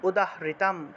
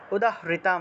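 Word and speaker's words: উদাহৃতম্: নিচে রস উকার রস্য উকারটাকে ভেঙে রস হিসেবে উচ্চারণ করলাম তাহলে সাম উদারিতাম সাম উদাহরিতাম উদাহৃতাম এই যে এর সাথে ঋকার সেজন্য উদাহৃতাম উদাহৃতাম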